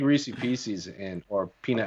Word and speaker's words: Reese's Pieces: m's and popcorn too you call it reese's pieces yeah is that what they are the reese's piece uh it's reese's pieces oh whatever i know you're how do you say it how do you say it that's a that's the new england one that oh okay oh